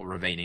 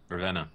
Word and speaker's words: Ravenna: Not Ravani, that's not of Dragon Age, I think, but Ravani or some boss. Ravenna, yeah, that sounds more.